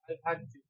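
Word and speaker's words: الحج: আরবি শব্দ এই শব্দটার শাব্দিক মানে শুদ্ধ উচ্চারণ আমার সাথে বলেন আল হাজ্জু আলহাজ্জু আল হাজ্জু আলহাজ্জু এটা হল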